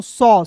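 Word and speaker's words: sauce: फिर देखिए यहाँ पे एस ए यू सी ई, तो इसे क्या पढ़ेंगे दोस्तों सॉस, सॉस मिस क्या होता है दोस्तों चटनी होता है।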